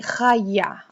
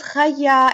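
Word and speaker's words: חָיָה: This is why we're saying khaya. Okay, it has a rather more rough kind of pronunciation in the beginning because khat is taken way back and it's a guttural letter also in the throat.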